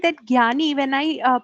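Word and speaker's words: ज्ञानी: It should be pronounced nasal from the nose.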